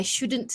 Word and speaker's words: shouldn't: I shouldn't have said that. So be careful with your pronunciation when you say shouldn't. You should say the T there, I shouldn't, or very light T, shouldn't have done that, or shouldn't have said that.